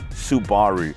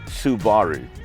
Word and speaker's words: Subaru: meh oh and yeah the correct way to say it is Subaru not Subaru but Subaru got it took me a while too but we can